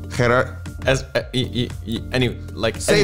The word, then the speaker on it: Gerards: Well, Gerard. Say it how the Dutch people say it. They say Gerards. Gerards. Gerards. Yes, very good. But I would say Gerards. Gerards. Gerards.